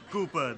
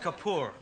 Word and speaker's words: Kapoor: you little how is Master Cooper these days these days pronounced Kapoor right it's awesome I hear